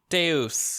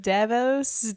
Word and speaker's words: Deus: Deuce, thank you. Because I can't pronounce it to save my life.